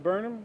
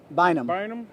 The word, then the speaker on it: Bynum: GT Burnham, is that how you say it? Bynum.